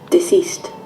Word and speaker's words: deceased: ये देख रहे हैं आप लोग, लास्ट में T लिखा है, कैसे प्रोनाउंस करना है? Deceased. Deceased. है, लास्ट में T है, इसका मतलब होता है डेड।